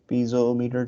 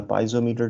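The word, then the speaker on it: piezometer: तो ये हमारे पास पीजोमीटर ट्यूब या पाइजोमीटर ट्यूब, दोनों तरह से प्रोनाउंस होता है, ये हमारे पास पिटॉट ट्यूब लगी हुई है।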